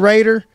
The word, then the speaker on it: Rader: Did I pronounce that the right way? That's right. Rader.